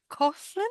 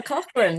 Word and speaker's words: Coughlin: And you've got um Nicola Coughlin, if that's how I pronounce her name. Nicola Cochran. Yeah, Coan.